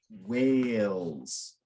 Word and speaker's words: whale: plural in the singular it's a silent e so instead of wow walls or something it's like so you know that a is open so it's whale and then plural whales uh